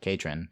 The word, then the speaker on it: Katrin: No, I think if I'm pronouncing it right and it rhymes like that, then I think that it's got to be Katrin the Patron.